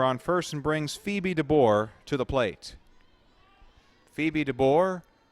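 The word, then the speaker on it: Dabbour: Phoebe DeBoer, not spelled like yours truly, DeBoer. It's spelled D-A-B-B-O-U-R, which frankly I've probably ran into a couple times. It's one of those names, you know, stick together with the pronunciation.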